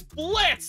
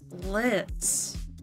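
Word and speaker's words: Blitzø: It's Blitz. The O is silent. Okay. Jeez. Blitz.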